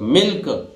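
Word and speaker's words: milk: में छोटी की लगेगी, और लक मिल्क, ये एक्सेप्शनल है, नहीं तो अगर एल के बाद के आ जाए या के से पहले एल आ जाए तो एल 90% स्थितियों में क्या रहता है? साइलेंट रहता है, एल का उच्चारण नहीं करते, पर यहां कर रहे हैं।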